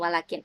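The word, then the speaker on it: ولكن: panjang Wakin enggak panjang akan tetapi tulisannya kan enggak panjang nih walakin akan tetapi kita membacanya panjang Wakin nah Coba kalian dengarkan suaranya audionya ketika mereka menyebut Wakin ini pasti panjang jadi tidak ada mereka menyebut Wakin Nah itu enggak Wakin jadi ada panjangnya sedikit ya di sini walaupun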